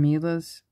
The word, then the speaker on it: Milla: So this bracelet is from Milla's Beading. I think that's how you pronounce it. Could be Milla. It's M-I-L-L-A.